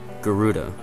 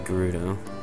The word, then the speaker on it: Gerudo: which obviously shows that it's supposed to be a hard g sound like good as in gerudo instead of a j not gerudo gerudo whatever